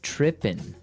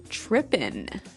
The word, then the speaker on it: trippin': So they started talking about girls, and he mentioned that this girl started tripping. Trippin'. So to trip. Right. As you notice, it's trippin'. It doesn't have the G at the end, which isn't really grammatically correct, but that's kind of the way it's pronounced.